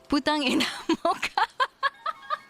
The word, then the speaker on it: Putang ina mo ka: He said, if you ever forget how to say it, just imagine it in English. It's put tongue in a mocha.